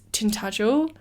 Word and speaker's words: Tintagel: One that I haven't been to, which I'd really, really love to go to, is Tintagel. That is definitely how you pronounce it.